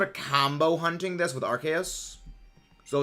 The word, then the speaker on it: Arceus: The name is Arceus.